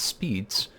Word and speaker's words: SPDZ: completed the SPDC protocol often pronounced as speeds was first introduced in